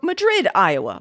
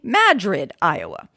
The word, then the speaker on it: Madrid: And apparently there is no Madrid, Iowa, like the city of Madrid in Spain, but only Madrid, Iowa.